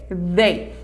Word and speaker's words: they: Você pode falar com esse som de they. Eles vão entender normal, mas a pronúncia correta é they. Fazendo essa vibração, coloca a língua entre os dentes assim, ó. E faz they.